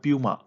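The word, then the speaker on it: Puma: পুমা ইন্ডিয়ার নতুন brand ambassador করা হয়েছে এটা পুমা উচ্চারণায় উচ্চারণ হয় পিউমা সাত নাম্বার প্রশ্নটা দেখো সম্প্রতি ওয়ার্ল্ড মনুমেন্টস ফান্ড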